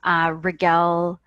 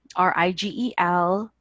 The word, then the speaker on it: Rigel: Rigel, Rigel, pronounced like Miguel, but with an R, is how I usually say it, so it's easier to remember.